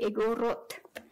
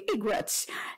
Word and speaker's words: Igorot: In Ilocano, when the Ilocano says Igorot, with the emphasis on the first word, it's bad. It's very, very limited.